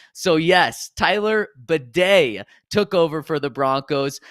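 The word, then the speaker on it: Badie: video last year saying his last name is pronounced batty it's it's uh b a d i e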